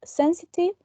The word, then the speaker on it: sensitive: Then we have sensitive. It also has 3 syllables, and also the most prominent syllable is the first one, sensible, sen.